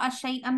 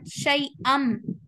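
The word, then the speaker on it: شيئًا: li mubakirina li naqra shay'an min al-Quran mubakirina li naqra shay'an min al-Quran. So this means yes, we pronounce this word not shay'an. We pronounce this word shay'am.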